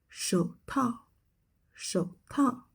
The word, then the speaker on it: 手套: 手套,手套. It means gloves. So here, the pronunciation remains unchanged.